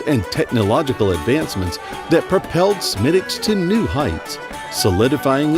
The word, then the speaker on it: Smithwick's: of Irish craftsmanship smiix really mispronounced a lot of the time is locally pronounced as such smicks or smicks the story of smicks